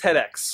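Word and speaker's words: TEDx: or Ted X Grand View Avenue believe it's tedex okay that's what I thought and I didn't want to mispronounce it but I've always heard it as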